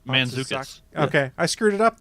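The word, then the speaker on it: Mantzoukas: Jason Matsuzakis, who I always think of as Rafi from The League. I believe. Whoa. How'd you pronounce that? It's Manzukis.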